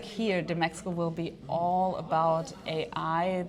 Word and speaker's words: DMEXCO: is the CEO of DMEXCO. Am I pronouncing that right? Perfect. Just that I'm not the CEO, Oh, but excuse me. DMEXCO was perfect.